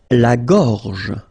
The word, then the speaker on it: gorge: Okay, remember when you've got this combination G and O, you get the sound go, go. Okay, so gorge. And then G and E gives J. La gorge. La gorge.